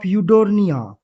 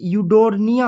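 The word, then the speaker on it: Eudorina: मैं तो इसे यूडोरिना पढ़ता हूँ, आप अपने अनुसार देख सकते हैं।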